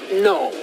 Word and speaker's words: gnome: First of all, if you were a gnome, you would know that the G in gnome is silent. It's gnome, okay?